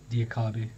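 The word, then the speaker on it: Diakhaby: Off the line, then Diakby. Is that how you say his name? Diakabi.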